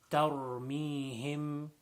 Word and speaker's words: ترميهم: Next verse, ترميهم. So over here, really the only tough letter in this is just make sure that the ra, tar, is pronounced with a full mouth.